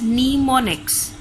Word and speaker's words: mnemonics: The commands are represented in assembly language by short names called mnemonics, pronounced as mnemonics.